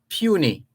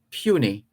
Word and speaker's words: puisne: pronunciation of that word, Puisne, which is pronounced properly or properly pronounced puny.